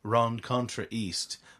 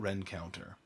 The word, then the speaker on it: Rencontre East: called Galtus, McCallum, and if you were to see it on paper, you'd pronounce it probably Rencontre East, but they call it Rencounter.